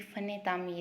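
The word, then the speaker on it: فنِ تعمیر: पहला लफ्ज़ है फ़न तामीर, और ये फ़न तामीर लफ्ज़ भी गलत प्रोनाउंस किया गया था। ये फ़न तामीर है।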